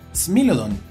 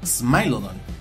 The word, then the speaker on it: Smilodon: género es smilodon popular y se pronuncia smilodon y no smile o long como luego lo hacen algunos angloparlantes con instalaciones planning es